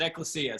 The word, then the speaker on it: Ecclesia: When I came here, they pronounced it Ecclesia, so I've stuck with that.